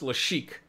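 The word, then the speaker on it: Lassic: right we got to defeat the galactic Tyrant lashik it's pronounced le chic people say it's it's um oh hold on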